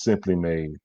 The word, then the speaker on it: S'Hemply Made: and it's all spelled simply made but it's pronounced simply made they have shea butter cbd lotions and chapstick